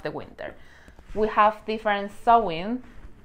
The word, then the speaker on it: Samhain: We have different Samhain. I know that the pronunciation is not as you can see it. The spelling is Samhain, but the pronunciation is Samhain.